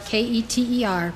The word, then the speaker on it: Keter: spheroat is called Qatar spelled k-e-t-e-r pronounced keter it means crown as